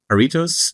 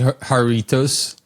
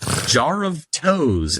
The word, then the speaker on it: Jarritos: Yeah, you could say like jar of toes.